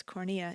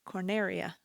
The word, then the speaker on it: Corneria: defending Planet cor corneria I was saying it wrong originally it's as cornea it's corneria preventing its damage level